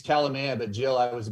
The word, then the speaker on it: Kalamaya: his name is ryan calamaya did i say that right i should have asked you prior but it's all good it's calamia but jill i was